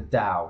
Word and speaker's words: Tao: series I know was the DOW which is spelled Tao um the Dow series